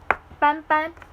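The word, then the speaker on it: 斑斑: Like his English name and his Chinese name is legit sounds the same, but without that M sound. But that M sound turns into an N sound, basically. And so his Chinese name is Ban Ban.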